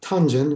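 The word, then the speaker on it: 단전: another list and then we have tanjan which is how we pronounce it in korean from chinese and i i'm not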